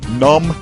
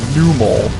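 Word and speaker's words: Numel: those of you wondering it's pronounced pronounced num and well it's a combination of the word numb and camel i've heard so many times him called new mole it just makes me mad he freaks out i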